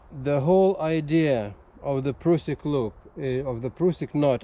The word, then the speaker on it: Prusik: that's why I think the right pronunciation of this not is prusik because Carl prusik was Austrian with the with the